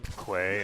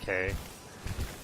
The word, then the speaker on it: que: Because if she's saying Quay instead of K, because it's spelled Q-U-E, I'm gonna be very amused.